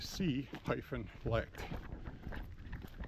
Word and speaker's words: C-Lect: And I'm not saying select like when people pronounce cement. It's actually C-lect, something patented by Mossberg, and it has a gizmo inside it.